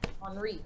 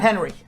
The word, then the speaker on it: Henri: Tropical Storm Henri. Henri. Not Henry. No. The French.